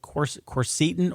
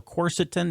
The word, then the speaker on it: quercetin: But I do believe in an herb called quercetin or quercetin. You can pronounce it either way.